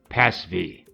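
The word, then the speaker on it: PASV: actually called PA SV it's pronounced Paz V it stands for preservers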